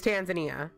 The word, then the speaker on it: Tanzania: Okay, so Sun heard a person say Tanzania. Almost everybody here agrees Tanzania is Tanzania, correct?